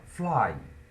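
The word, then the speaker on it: flew: এটা তোমরা অনেকে ফ্লিউ বলো, কিন্তু উচ্চারণ করার জন্য ফ্লিউ বললেও এটা কিন্তু বানানের জন্য ফ্লিউ বলতে পারো তোমরা, বানান মনে রাখার জন্য, কিন্তু উচ্চারণ এটা কিন্তু অ্যাকচুয়ালি হবে ফ্লু।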